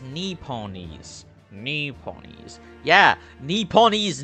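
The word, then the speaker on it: Nipponese: ready my Lord the nipones are a truly fascinating Breeze um actually it's pronounced NE ponies knee ponies yeah knee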